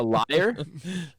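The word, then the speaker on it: lyre: A liar? A liar? A liar. Isn't that how you pronounce it? L-Y-R-E?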